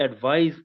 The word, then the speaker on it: advise: Okay, the difference is as a noun when we are using c, it is pronounced as advice, while using s, we pronounce it as advise.